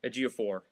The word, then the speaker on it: Ejiofor: I always struggle to pronounce his name. Ejiofor.